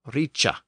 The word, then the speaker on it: ric: was not pronounced like rice in Modern English instead the C Sound had emerged in this context and the Word was pronounced Richa and this is actually